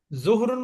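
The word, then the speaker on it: ظُهْر: বলে না মদ্ধান্য জি জুহরুন মানে কি মধান্য দ্বিপ্রহর মধ্যান্য বা দ্বি প্রহর বা দুপুর লাঞ্চ আওয়ার বা যোহরের নামাজ সেটা হচ্ছে জ এর উপরে পেশ হা এর উপরে সুকুন তাহলে দেখেন বানানটা একটু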